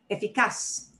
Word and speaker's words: eficaz: If the last letter of any word is a consonant, not N, not S, we punch the last syllable. Eficaz. Eficaz is where we have, and it's actually the whole last syllable is cas, eficaz, and it obeys that rule.